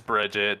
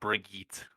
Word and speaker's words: Brigitte: It's Bridget, dude. Don't fucking. It's Brig or it's Bridget. It's not Brigitte. People just call her Brig though, because it's easier than saying Bridget.